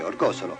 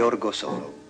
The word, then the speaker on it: Orgosolo: buoni e i cattivi Orgosolo un nome che in Italia si pronuncia sempre Orgosolo fatto sintomatico che denuncia una differenza profonda di linguaggio e che spiega Tante incomprensioni fino a che si continuerà a dire Orgosolo Orgosolo continuerà ad essere uno